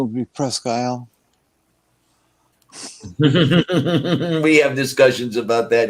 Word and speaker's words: Presque Isle: The normal pronunciation would be Presque Isle.